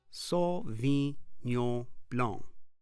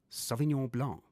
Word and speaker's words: Sauvignon Blanc: in the cellar, let's first learn how to pronounce it correctly. Sauvignon Blanc. Sauvignon Blanc.